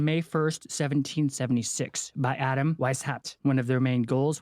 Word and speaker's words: Weishaupt: It's Weishaupt. Weishaupt. Weishaupt. You know what I'm saying. Gotta say it like a German twink.